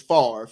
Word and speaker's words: Favre: Football you know his his last name is farf as you can see it's spelled f-a-v-r-e Al Michaels and Howard